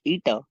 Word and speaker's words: eta: instead of strain itself the coefficient of viscosity pronounced ETA for a fluid is defined as the ratio